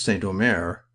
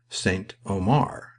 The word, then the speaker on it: Saint-Omer: I noticed that he pronounced Saint-Omer Saint Omar, as though Omar Khayyam had been canonized.